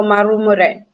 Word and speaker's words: Marumure: So, what's how to pronounce the second part of your name? Marumure. Marumura. Yes. Am I right? Yes, my family is originally from Southern Africa, so Marumure.